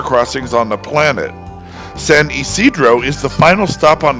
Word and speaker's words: San Ysidro: English speakers who are unfamiliar with the area are tempted to say Ysidro, but this one remains true to Spanish pronunciation, and it's Isidro.